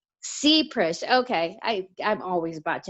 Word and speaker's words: Seprish: your last name supress it's ZBrush it's a long e C press okay i i'm always